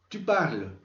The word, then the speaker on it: parles: Es decir, la terminación solo es una marca gráfica. Fonéticamente no se pronuncian.